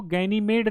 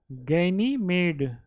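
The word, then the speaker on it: Ganymede: एक उपग्रह है जिसको गैनीमेड नाम है। उसका क्या नाम है? गैनीमेड। गैनीमेड या गैनीमीड, जो भी उच्चारण कर दिया जाए, गैनीमीड, गैनीमेड भी लिखा हो सकता है, गैनीमीड है।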